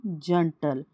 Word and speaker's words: gentle: For example देखेंगे जंटल, देखो GENTLE जंटल। तो इसका मतलब होता है कि ज के बाद ई आए तो इसका प्रोनाउंसिएशन क्या होगा? ज, ना बल्कि ग। हम इसको क्या प्रोनाउंस करेंगे? ज। इट्स अ जंटल।